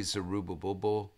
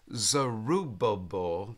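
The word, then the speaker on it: Zerubbabel: then we have hegan did I say zerubba I think I got one one too many B I think I had one too many syllables bus syllables there so we have Darius zerubabel there I think I got that one right and we have hegan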